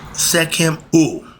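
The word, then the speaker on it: Sekhem: The first form is arat secum. Okay. Sec. We spell it s e k h e m. Seek him that means meditating on the subtoal life force.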